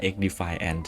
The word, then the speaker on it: XDefiant: อยู่ กับ เกม ที่ ชื่อ ว่า xd file Ant นะ ครับ คือ ยูบิ เขา เรียก อย่าง นั้น น่ะ แต่ ว่า อ่าน ครั้ง แรก ก็ คิด ว่า อ่าน ว่า xd เฟียส เหมือน กัน เกม นี้